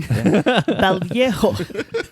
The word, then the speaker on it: Vallejo: There's two L's. You have to do that Elia thing. Vallejo. There's a J. It's a ho.